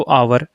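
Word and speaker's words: hour: an article आ गया फिर देखो आवर इसके उच्चारण का पहला अक्षर आ है इस वजह से यहां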